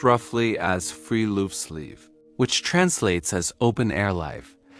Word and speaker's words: friluftsliv: Norway has a cultural concept called friluftsliv, pronounced roughly as friluftsliv, which translates as open-air life and is considered a fundamental Norwegian value rather than a hobby or a lifestyle choice.